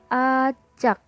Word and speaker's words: atjak: Pada ejaan ATJAK dibaca acak.